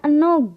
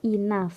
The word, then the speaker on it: enough: sampai bukan barangkali ya jangan sampai kalian semua baru menemukan kata Inaf disini dan dibacanya enough karena biasanya dibacanya EU no gitu ya jadi jangan ya di sini itu enough dibacanya Inaf seringan itu ya jadi tu